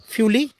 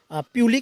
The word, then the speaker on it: फ्यूली: पूरे जंगली इलाकों में आप जहाँ भी नज़र डालेंगे तो आपको ये फ्यूली, जो यहाँ का लोकल टोन है, प्रोनाउंसिएशन में फ्यूली बोलते हैं, वैसे प्यूली के नाम से भी जाना जाता है।